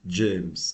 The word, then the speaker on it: Jaimes: mon tout dernier né que j'ai baptisé James attention ça s'écrit J a I m e s James est